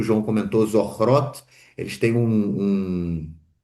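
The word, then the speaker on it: Zochrot: A gente vive isso o tempo todo, mas eh para quem quiser lá, então dessa organização que o João comentou, Zorrot, eles têm um e eh um aplicativo que chama I return e Zorrot, né?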